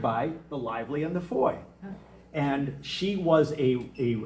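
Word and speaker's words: Fowey: And and the the foy uh I know it says fou or foe, but it seems to be pronounced foy, near as I can tell for my British friends.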